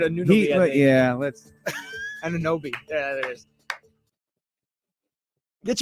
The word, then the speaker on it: Anunoby: I always butcher Ananobi. Ananobi. That's what I said last time. Someone said I messed it up. No, you said something else last time. Oh, I said Anunoby. Yeah, let's. Ananobi.